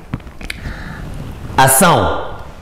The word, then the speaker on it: acção: outra é Batista temos ação Nós escrevemos acção mas a pronúncia é ação Então vamos nosso exemplar